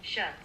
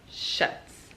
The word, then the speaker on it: Schutz: Schutz. Okay, Schutz.